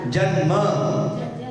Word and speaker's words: जन्म: न का उच्चारण करो, ल का नहीं, और न आधा करना है, पूरा नहीं।